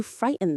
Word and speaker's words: frighten: The stress is on the first syllable, fright. Say it with me. Frighten. It's like fight, but with an R sound and then N.